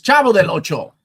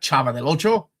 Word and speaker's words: Chavo del Ocho: You racist, it's Chavo del Ocho, not Chava del Ocho.